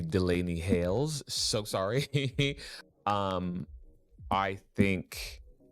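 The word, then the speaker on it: Delainey Hayles: But so, oh, also, um, I got a comment that I'm pronouncing Delane's name wrong. It's actually Delaney Hails.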